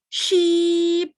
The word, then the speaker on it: sheep: Jadi ini contohnya adalah sheep, gitu ya.